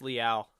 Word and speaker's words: Leal: No, it's Leal. God, what It is not a stream if I'm not pronouncing It someone's name should be wrong.